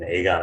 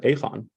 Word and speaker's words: Aegon: of a large institution aegon Asset Management we have a multi-billion dollar uh by the way Brian even you pronounce it incorrectly are there the people in in the Netherlands pronounce it aphon yeah I know that's right